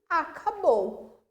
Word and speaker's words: acabou: Aquilo que finalizou significa que aquilo acabou. Oxítona, por quê? Acabou. O bou é o mais forte.